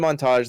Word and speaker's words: montage: so i made a montage that that did pretty well relatively and uh it was paid correctly we've had this conversation say it correctly uh montage montage montage that's what i said